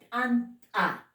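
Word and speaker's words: t'anta: Anta. T con apóstrofo. Anta.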